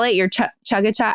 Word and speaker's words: chaga: Your chaga chai?